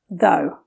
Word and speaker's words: though: Though. The English pronunciation for though contains the O sound.